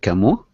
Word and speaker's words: Camus: know about Albert K I know that the name is Albert camo Albert camo right I uh mispronounce